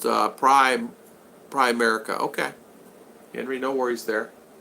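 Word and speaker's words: Primerica: Henry, it's pronounced Prime America.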